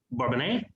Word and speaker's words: Bourbonnais: And we also have with us Bourbonnais. I pronounced that right?